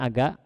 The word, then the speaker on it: Aga: Oh, ada Aga ya, Aga bacanya Aga. Halo? Agha atau Aga?